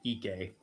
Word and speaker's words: Ike: I think it's actually pronounced EK.